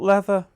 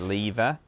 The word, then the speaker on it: lever: jump up here then pull leather it's pronounced lever in England land okay just give